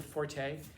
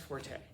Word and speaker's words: forte: Okay, it's not pronounced forte. It's pronounced fort. It's not a French word, it's an English word. There's no accent at the end.